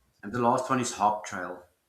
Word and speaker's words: HopTrail: And the last one is HopTrail. HopTrail.